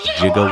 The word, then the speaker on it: Giga: charged as one point jugo watts our friend ed reminded us that or Giga can actually be pronounced either way soft G or not so we're gonna play